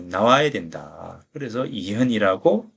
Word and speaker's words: 이현: 잘해 준 거죠 그래서 이현 이라고 이어 키스는 이견이 라고 읽으면 언제 어 주역의 내용을 잘 모르는 것이고 이현 이라고 읽어야 한다 라는 겁니다 이 현으로 잃는다면